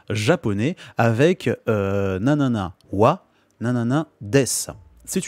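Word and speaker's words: は: dans cette dans cette phrase là donc watashi wa watashi ces jeux ouah c'est le thème notre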